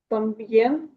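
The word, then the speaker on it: también: Там б'єн нічого такого не відбулося. Чому? Тому що наголос падає не на ігу. Так, якщо воно на е, на у, нічого страшного не відбувається. Дифтонг залишається дивтонгом. Просто це наголошене дісно.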